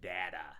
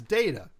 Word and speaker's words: Data: I've never heard anybody say his name's Data. It's Data. Both of them, Goonies and Star Trek, is Data. But motherfuckers are out there saying Data.